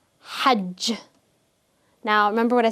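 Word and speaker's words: حج: this as hig or hag. So the jim is not going to be pronounced as a ja. Instead, it's just going to be the hard G sound, as in game.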